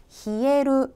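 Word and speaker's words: 冷える: 추위 를 나타 내는 이 한자가 동사 형태 로 쓰일 때 는 " 히에루 " 라고 읽으며 , 이는 " 차가워지다 " 라는 뜻 입니다 .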